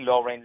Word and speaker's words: Loren: I had the pleasure to have the wonderful, talented HALIE LOREN. Let me spell it out for you. It's H-A-L-I-E, Loren, like Sophia Loren, L-O-R-E-N.